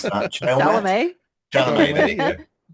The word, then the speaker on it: Chalamet: I don't know how to pronounce that. Chalamet? Chalamet.